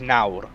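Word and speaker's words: nawr: wales for the welsh word for now is nauru and the welsh word uh but the north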